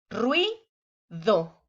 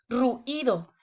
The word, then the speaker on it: ruido: Fíjense, ruido. ¿Se fijan? El oído me dice que debe de quedar junto. Sería incorrecto decir ruido. Hay mucho ruido allá afuera. No, ¿verdad? Se oye mal. Porque debe de quedar junto. Como se forma un diptongo, queda junto en una misma sílaba. Ruido.